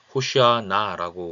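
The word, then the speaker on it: הושיעה נא: 외치면서 환영했다고 하는데요 자이 호산나 호시아 나라고 원래는 발음을 해야 되는데 어이 말을 풀이를 하면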